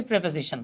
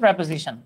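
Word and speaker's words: preposition: আপনাদেরকে ছোট্ট করে একটা জিনিস দেখাই, আমরা ছোটবেলা থেকে অনেকবার পড়ে আসছি, আমরা পড়ে আসছি প্রেপোজিশন। হ্যাঁ, রিয়েল প্রোনাউন্সিয়েশন হচ্ছে প্রেপোজিশন। তো আমরা প্রেপোজিশনস পড়ে আসছি, অনেকে অনেক পড়ছি।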